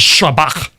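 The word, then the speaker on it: שבח: And so anytime there is a word in any Semitic language that has a sh sound, and there's lots of them, and they want to try to pronounce that in Greek, they write s instead of sh because it's the next closest thing.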